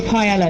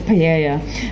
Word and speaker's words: paella: And he says paella, because we pronounce it with the L's.